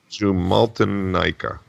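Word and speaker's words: Jumalten aika: Jumaltica. Yeah, pretty much. I think it's just a It's a W. The J is a Y sound.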